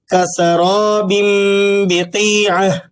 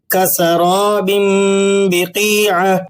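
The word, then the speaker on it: كسراب بقيعة: کسراب بقیعۃ، کسراب بقیعہ، کسراب بقیعہ۔ دھیان سے غور کریں، تنوین کی آواز ناک سے نکل رہی ہے، با کا تلفظ ہلکا اور واضح ہے اور درمیان میں کسی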